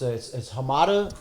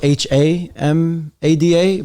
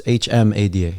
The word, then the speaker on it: Hmada: So is the H silent? No. It's Hmada. Like, I think my parents were just immigrants, so they didn't know how to spell it. You know what I mean? Oh, they had a chance to respell it? No. Because everybody thinks it's spelled Hamada, but it's Hmada.